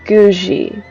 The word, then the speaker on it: Guji: Also, it's Guji.